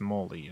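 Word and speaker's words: Mally: Molly, whose name is pronounced Molly?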